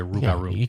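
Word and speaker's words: rougarou: crap out of me am I saying it right rugaru you could just say rugaru rugaru yeah CU you can't roll your tongue like I raro you got it that down all right so um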